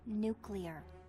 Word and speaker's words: nuclear: It's nuclear. Yeah, I know. Nuclear. You did it again. It's pronounced nuclear.